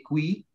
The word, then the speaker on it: qui: Jadi itu untuk pelafalannya itu qui ya Kak ya, bukan ki ya.